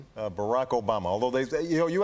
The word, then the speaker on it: Barack Obama: Uh Barack Obama. Although they you know, you had a top 10 list, but you missed a couple. ways to mispronounce Barack Obama. was Alabama and Yo' Mama.